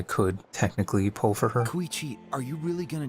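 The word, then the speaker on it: Kachina: it's kind of a long story so it's pronounced kichi it's not really my story to tell but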